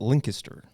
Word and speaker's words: Lancaster: those that don't know you actually pronounce it linkter Linker something like that that's how they pronounce up there's linkter L linkter Lan Lancaster but everybody says Lancaster if you're not from there that's just their their